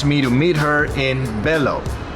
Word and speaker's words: Bello: to meet her in Bellow the local pronunciation is vjo vjo is about 30